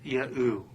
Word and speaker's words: Yahu: of evidence, confirming that the first three letters of the Tetragrammaton should be sounded out as Yahu.